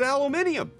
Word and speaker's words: aluminium: But adding an I to aluminum makes it aluminium. It's just in the spelling. Now, you could argue you prefer the American spelling or the British spelling, but it is spelled aluminium when people say it like that.